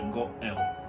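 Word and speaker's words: גואל: Essa é uma palavra grega que hebraico ela é Gaal ou na pronúncia é goel.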